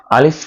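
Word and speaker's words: ألف: এই আলিফটা উচ্চারণ করতে হয় গলার শুরু থেকে, অর্থাৎ হলকের শুরু জায়গা থেকে এই আলিফটা উচ্চারণ করতে হয়, আওয়াজগুলো ভিতর থেকে আনতে হয়, অনেক জোরে উচ্চারণ করতে হবে।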